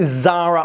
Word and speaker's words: Zara: I called her Zoe, and it's not Zoe, it's Zara.